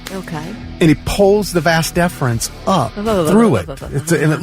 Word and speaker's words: vas deferens: Vas deferens, yeah.